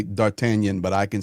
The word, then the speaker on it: D'Artagnan: Yeah, D'Artagnan. Yes. Uh That's how you say it properly. Thank you, JP. They They speak a French there.